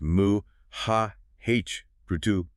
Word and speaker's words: Mahabharata: And for those taking notes, it's pronounced moo ha Brutu.